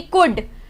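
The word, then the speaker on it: could: सीखा डी से पहले अगर एल आएगा वो साइलेंट होगा। जैसे कि कुड, टॉक, हाफ।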